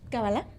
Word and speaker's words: cábala: de qué se trata el cabal o cábala no sé cómo se pronuncia correctamente cábala cábala muy bien cábala Sí sí con